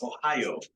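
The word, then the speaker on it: おはよう: Ohio? Yes, yeah, that's right. So it's Ohio, like the state of Ohio. It's very similar. And so for the Romaji, it's Ohio, and the O there with the line.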